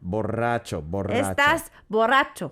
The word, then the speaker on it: borracho: stuff exactly exactly so but you have to roll the r borracho oh perfect pronunciation oh